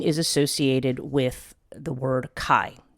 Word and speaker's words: chai: 18, now in Gematria, 18 is associated with the word Kai, which is spelled like chai, C-H-A-I, but I believe it should be pronounced Kai.